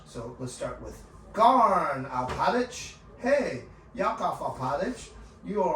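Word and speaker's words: Alpatych: Spell it. Alphatych. Alphatych? Oh, hey, Yakov Alpatich. That's a name, right? Garn Alpatich. That's his last name. Yakov is his first name, okay? Yakov. Y-A-K-O-V. Alpatich.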